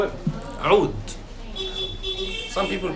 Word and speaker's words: oud: Oud. Aoud. How would you spell that?